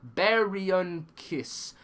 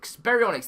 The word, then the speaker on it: Baryonyx: This is how it's pronounced. Baryonyx. Baryonyx.